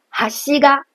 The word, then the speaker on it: 端が: 比如哈西嘎，因为它是平板型，所以连在后面的那个嘎也都保持在同一声调上，没有任何起伏。